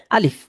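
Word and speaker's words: ألف: তো যে যেভাবেই লেখুক আলিফ এভাবে সোজা দাগ দিলেই সেটার উচ্চারণ হবে আলিফ। সেটার উচ্চারণ হবে আলিফ। কোন টান নাই শক্ত উচ্চারণ আলিফ।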